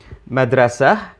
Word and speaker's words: madrasa: so there we are madrasa actually the consonants mdrst but the T isn't pronounced Arabic has to facilitate